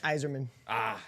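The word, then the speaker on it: Yzerman: Steve Zerman. I know. Yeah, exactly. You'll be able to help me on this one. That's Iserman.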